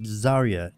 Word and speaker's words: Zarya: I think it's SIA was it zaria kinda like how Arya Stark is some people pronounce